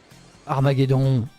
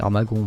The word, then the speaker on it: Armagon: Armageddon. C'est Armagon, mais bon. Compliqué à prononcer.